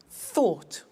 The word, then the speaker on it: thought: said send sent speak spoke tell told think thought watch that again ough T ought write wrote